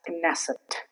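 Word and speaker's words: Knesset: But there is one exception that I could find that's kesset. It's the Israeli parliament that's called Kesset. Here K is pronounced.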